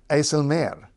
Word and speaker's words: IJsselmeer: is the aelir sorry aelir because second part of a compound word that's the way the stress goes if it's a compound word you stress the second part and of course you'll